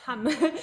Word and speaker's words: Hamm: The city Hamm? Hamm, Hamm, or Hamm? How do you say? Yes, Hamm.